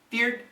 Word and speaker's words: beard: Beard, beer, beards. Now actually most Americans will say these words very quickly. No diphthong, one syllable.